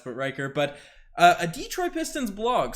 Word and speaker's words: Detroit: us before you said the hard d it's detroit so saku we'll probably still get somebody correct